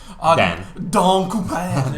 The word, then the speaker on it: Dan Cooper: Well, it's pronounced French, though. Dan Cooper.